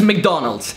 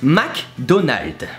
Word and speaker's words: McDonald's: So for you, it's McDonald's. So it's almost Mick and almost Donald. Well, it is. Well, for us, it's McDonald. So how to pronounce it? That's easy, just replace the Mick with a Mac, and the Donald's, I